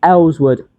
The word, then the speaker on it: Earlswood: How do you spell that, too? If you don't mind, please. A L. It's Ellwood.